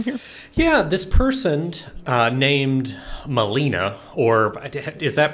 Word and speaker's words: Melina: Yeah, this person named Melina, or is that pronunciation incorrect? I always... It's Melina.